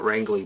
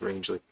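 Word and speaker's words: Rangeley: I would call it wrangley but I think it's pronounced rangley uh Maine that I visited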